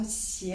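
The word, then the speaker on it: 鞋: Parce que aussi, la prononciation xie, les chaussures, est la même prononciation que xie, qui est un mot qui signifie le malheur, la malchance.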